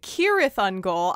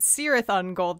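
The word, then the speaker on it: Cirith Ungol: about in a second kirith on goal i pronounced it serath on gold the entire time and no one corrected me um and and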